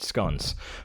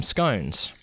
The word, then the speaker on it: scone: for pronunciation SC yeah good scon whereas Americans who don't eat them call them scones yeah work that [